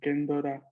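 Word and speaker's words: ケンドラ: Kendra quedaría algo como más Kendora, ¿no?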